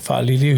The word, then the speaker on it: Faaliliu: Today we have another special guest, and I'm going to make sure I pronounce this right. Faaliliu. Faaliliu, yeah.